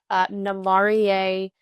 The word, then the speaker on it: Namarie: I think on the innovation front, Namarie is doing really cool things. It's spelled N-A Marie is kind of how you can think of that phonetically.